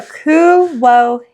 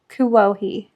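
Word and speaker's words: Kuwohi: How do you think it's pronounced? Kuahhei or something. I don't know. Okay. So, Kuwhei. Kuohi.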